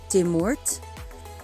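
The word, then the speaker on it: Dé Máirt: the lewin the lewin tuesday is the mort de mort wednesday is decading decating thursday is darden dardin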